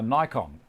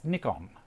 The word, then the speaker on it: Nikon: there calls the camera that I own a Nikon it's not a Nikon even though there's only